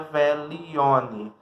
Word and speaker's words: Veglione: O Velione que se escreve Veglione, mas se pronuncia Velione, que é o nosso ritual de lua cheia.